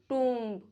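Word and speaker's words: tomb: B silent रहता है after M, before T. For example, lamb, डम, थम, प्लमर, टूम्ब, वूम।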